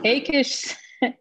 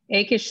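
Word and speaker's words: Achish: say his name was i think we said it is however been pronounced akish said until david i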